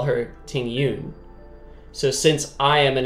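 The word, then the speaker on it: Tingyun: would be in Chinese she said that this character is called Ting Yoon but the characters in the English dub call her Ting Yoon so since I am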